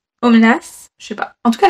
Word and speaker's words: Omelas: france à ma question ça se prononce aux menaces aux menaces je vais en tout